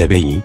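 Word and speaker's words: Abbey: L'histoire commence avec la déportation des Abéi, prononcée Abé.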